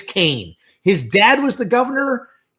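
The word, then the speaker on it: Kean: And like five people in the comment section on YouTube were like, "It's Keen." And I was like, "I know it looks like Keen, but trust me, it's Kane.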